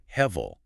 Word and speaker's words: hevel: Let's talk about that word, hevel. The pronunciation guide in our sources says it's pronounced h-e-h v-e-l.